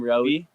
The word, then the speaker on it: Roie: I'm Rowie. That's how you pronounce it. Like Zoe with an R. That's so sick. Rowie.